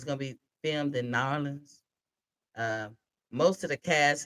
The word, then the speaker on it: New Orleans: Nolans, how they say it? I was that person that said New Orleans. They could see me a mile away. So I had to learn real quick. Nolans.